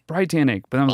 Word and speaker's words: BriTANicK: Yeah, at first I was like, no, it's BriTANicK.